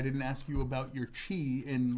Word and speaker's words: chi: of Jesus Christ's name in Greek it's actually pronounced Chi or CH and what chi chi yeah is